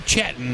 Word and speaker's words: Chatton: Trey Chatton is how you pronounce it, the freshman.